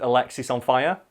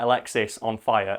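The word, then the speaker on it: Alexisonfire: think it's similar with Alexis on fire you know I like Alexa on fire because they have to call out Alexis on fire and a lot like people mispronounce it Alex is on fire like I remember going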